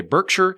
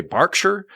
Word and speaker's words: Berkshire: pronounce things like like names for towns are different like in america we would say berkshire in england you would say berkshire like you you still